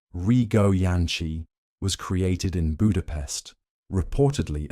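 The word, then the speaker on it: Rigó Jancsi: The Rio Jansancy cake, pronounced roughly Rio Yanchi, was created in Budapest, reportedly at the Gerbo Cafe, one of the most famous and elegant cafes in the city.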